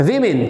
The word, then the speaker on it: women: तो ये क्या बन जाएगा, वीमेन। क्या बन जाएगा आपका ये, the pronunciation will be वीमेन।